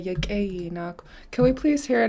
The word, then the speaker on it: Lichéesh: Okay, I just heard her say Lichéesh. Can we please hear it again, Grandma? Perfect. You said it good. Lichéesh. Goodness, T'aawáḳ. Enough cheese. Cheese. How do we spell that?